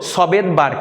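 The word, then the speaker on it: Svedberg: এসতে হলো সবেদবার্গ, কি সবেদবার্গ, কেউ কেউ দন্তের উচ্চারণ না করে শুধু ভেদবার্গ বলে।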